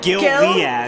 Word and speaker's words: Gilead: It's actually Gil Liad. It's a guy named Gil, last name Liad. It's Gil Liad's diamond.